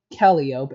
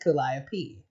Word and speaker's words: Calliope: I thought Calliope was pronounced Calliope and pronounced it that way for a good while until I found out it was actually pronounced Calliope.